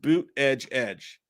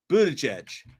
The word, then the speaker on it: Buttigieg: Michael Parton says, real quick, it's pronounced boot edge. Buttigieg.